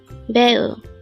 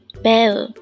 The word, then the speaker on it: 배우: 배우, 배우. This is pronounced as a two-syllable word. The first syllable is be, second syllable is u.